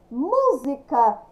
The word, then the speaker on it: música: Música, escrita com S, mas pronúncia com Z.